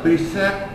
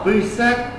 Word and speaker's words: preset: đặt trước, gọi là preset. Chúng ta đọc tiếng Anh phải chuẩn nhá, preset, chứ không được đọc là preset, nhớ chưa?